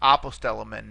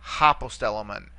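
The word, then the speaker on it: ἀποστέλλομεν: And again, notice the smooth breathing mark here to begin the word. It's apostellomen, not hopostellomen.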